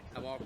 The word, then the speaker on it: Amok: In Norway we say Amok. Amok. But okay. Amok is a international word. That's part of the reason we chose it. So very cool. Amok, whatever floats your boat.